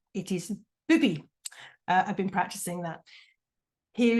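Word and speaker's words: Bybi: It's called, I have to pronounce this very carefully because that Y in Danish is U. It is Bubi.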